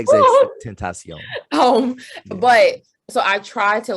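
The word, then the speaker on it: XXXTentacion: He also put me on to XX Extension, and I probably said his name, pronounced his name. Yeah, XX Tentacion.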